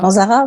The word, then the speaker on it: Manzara: Ça se prononce comme ça? Manzara, c'est un Manzara.